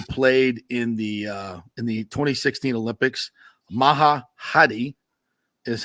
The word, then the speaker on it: Maha Hadi: Maha Hadi is how you pronounce her name.